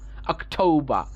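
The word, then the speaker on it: October: তারপরে কি আছে অক, তারপরে কি ঠ ও ঠ ও, এইটা হচ্ছে ডিফথং ও, এটা আউ নয়, এটা হবে ও, আমরা এটাকে আউ বলবো না, বলবো ও, ঠ ও, এটা ঔকারের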